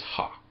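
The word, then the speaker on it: ὁ: first Greek word is ha. And the reason why I'm saying that it's ha is because it has a rough breathing mark above the omocrron.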